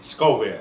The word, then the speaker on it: Scoville: And what I wanted to explain to you today real quick was the Scoville, pronounce it for me? Scoville.